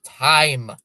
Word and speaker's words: Chaim: Time, no, time. That's how you spell it. Time. The C is silent. Chaim Bloom.